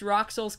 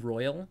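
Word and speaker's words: Rouxls: Is it pronounced Roxel's? I always pronounced it Royal, because it's a pun. I pronounced it like Roxel or something. Yeah, I pronounced it Royal because that would make it Royal Card.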